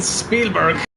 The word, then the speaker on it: Spielberg: in Austria in the mountains of sta in Spielberg as they pronounce it there as we turn from the